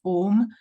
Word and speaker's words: Om: and this is the OM the OM only because these three letters om a u m pronounced in combination as om May well be the